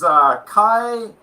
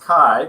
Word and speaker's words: Kaj: Okay, so my name is Kai. My name is spelled with a J, but it's actually pronounced Kai because it's a Swedish name.